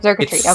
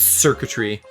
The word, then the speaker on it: Xurkitree: Xurkitree, because it's Xurkitree. Okay. It's circuitry, but oh.